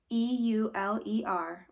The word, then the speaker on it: Euler: 18th century Swiss mathematician eul er pronounced Euler had an important number